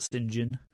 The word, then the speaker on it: St. John: But apparently, when you're upper crust, you pronounce it St. John.